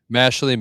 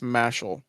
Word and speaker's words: Mashle: Mashley Magic. Mashley is on Netflix, just so you know. I would put that on my list by a reliable source that it's pronounced Mashel.